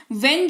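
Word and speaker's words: when: वेन का आता है वेन जो है इसका उच्चारण डब्लू एच ई एन वेन किया जाता है हल्का सा जोर पड़ता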